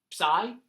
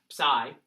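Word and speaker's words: psi: you and it's an X this is a sigh yes sigh think Trident I don't know how else to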